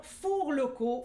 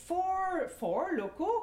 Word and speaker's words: Four Loko: Les mères d'adolescentes que nous sommes crient « Hourra » aujourd'hui, car la boisson Four Locaux... Four Locaux, Catherine, four! Oups! Après le char Lacrosse, ça me semblait plausible qu'on prononce ça « four ».